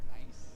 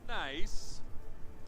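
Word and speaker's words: NAIC: fans for this event at niic pronounced nice pronounced nice man I sure wish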